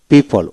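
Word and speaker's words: people: এখন ও দিয়ে কেবল একটি শব্দ পেলাম, PEPLE, পিপল, ও উচ্চারিত হবে না, অনলি ওতে একটা শব্দ পাওয়া যায়।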